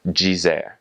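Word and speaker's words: dizer: So it's pronounced veraji or um the the word for to say is jer spelled d i z e r jzer.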